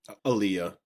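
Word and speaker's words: Alia: And then his kids and Leia, I don't know how you pronounce it. Aaliyah.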